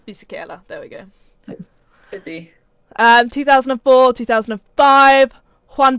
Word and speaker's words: Fisichella: Celeste is going to have to correct my pronunciation here. I think I know who you're gonna Giancarlo Fisichella? Giancarlo Fisichella. Fisichella, there we go.